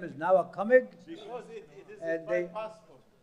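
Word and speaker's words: Nowa Cumig: I say my name is Nawakamig. Because it is my passport. Don't. I mean, it is obliged. I mean. No, I say my name is Nawakamig.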